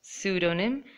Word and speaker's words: pseudonym: way in these words P is silent pseudonym psychology pneumonia telephone alphabet